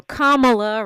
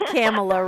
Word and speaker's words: Kamala: tell everybody right now kamla rhymes with mamala uh not camela rhymes with Pamela or Cala because the Republicans have